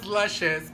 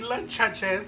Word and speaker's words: Lushious: Literally, my name is Lushious, but then people started calling me Lechuchus and then everybody started to like intentionally mispronounce and misspell my name. They've called me Lechucha, girl. They're calling me Lecheche, honey. They're calling me Miss Leche.